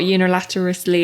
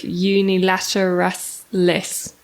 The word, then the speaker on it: unilateralis: No, it's not unilaterally, it's unilateralis. Yes.